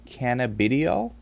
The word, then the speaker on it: cannabidiol: and for those who don't know CBD is cannabidiol am i pronouncing that correct yes and it's been really